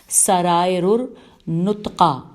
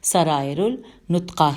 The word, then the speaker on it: سرائر النطقہ: شخصیت تھے۔ ان کی سب سے مشہور کتاب سرائر النطقہ، سین رے الف حمزہ رے الف لام نون توئے قاف الف حمزہ، سرائر النطقہ ہے۔ اس کتاب کا نام اسرار النطقہ بھی